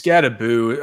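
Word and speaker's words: Skattebo: It's Scataboo. I mean, it's spelled Scataboo, but the Norwegian pronunciation Scataboo.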